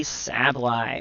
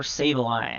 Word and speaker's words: Sableye: for right now is a sably or Sableye however you want to pronounce it these days we now remember this